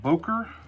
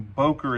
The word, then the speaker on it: Boker: Uh, the name of the company I'm pronouncing Boer, it's probably more correctly pronounced Booker. From what I understand, it's a German name and my German pronunciations are absolutely not good.